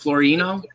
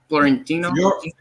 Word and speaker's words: Fiorentino: Is it Is it Florentino? Fiorentino.